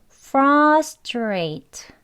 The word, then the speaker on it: frustrate: 천천히 보겠습니다 frustrate frustrate 그런데요 여기 str 이요 나란이 오게 되면 스가 아니고요 약간 된 소리 쌍 지에 해당하는 발음 소리에 가까운 치 발음으로 발음을 해요 원어민들은 straight 아니고 straight straight네 여기 제가 앞에는 빼고요 그죠 straight 하고 발음하게 되면 str 약간 된 소리로 하면 더 원어인 발음으로 하실 수 있습니다 frustrate 이렇게 되는 거예요